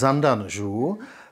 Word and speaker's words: Zandan Zhuu: The last one is Zandan Zhuu, that is the Buryat pronunciation of "Tsan dan Jo bo", which means Sandalwood Buddha in Tibetan.